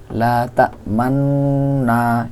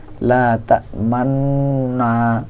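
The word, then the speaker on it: لَا تَأْمَنَّا: পারি পড়াটা এরকম কিন্তু এখানে একটু এই নুনের মধ্যে ঠোটগোল করে পড়তে হবে লাতামান এরকম পড়াটা সুন্নত এখানে লাতামান শুধুমাত্র এক জায়গায় সূরা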